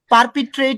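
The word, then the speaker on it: perpetrate: মানে স্যার আর আমরা এর হচ্ছে উচ্চারণ করলে তো এটা বলবো পারপিট্রেট।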